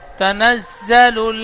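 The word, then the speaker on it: تَنَزَّلُ: পেশহু ওরু হাফেসহু হাফে ওরুহ তানাজজালুল মালাইকাতুজালা তানা জ্বালাত জালাল বলছেন জালাল হবে না জালুল লাম লাম পেশল উচ্চারণ হয় তানাজজালুল তানাজালুল মালাইকাতু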